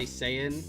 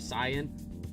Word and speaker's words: Saiyan: properly pronounced kaioken but we still say saiyan like saiyan instead of cyan uh that also goes